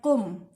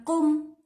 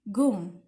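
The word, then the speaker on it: قم: seseorang bangun dari duduknya kata Gom ini bertuliskan dengan huruf Call kalau dalam bahasa Arab fushah dibacanya com Tapi kalau dalam bahasa Arabnya huruf Kaf itu biasanya dibaca seperti Huruf g Jadi dibacanya bukan come tapi Gom hurufnya itu seperti Juli seperti itu kalau dalam bahasa Arab amiyah nah Kian untuk pelajar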